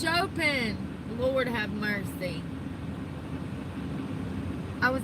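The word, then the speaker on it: Chopin: Is it chomping? Chomping. Oh, it's Chopen.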